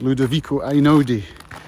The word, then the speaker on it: Ludovico Einaudi: The music is Ludovico Einaudi, to pronounce it correctly, which I just learned about on a podcast.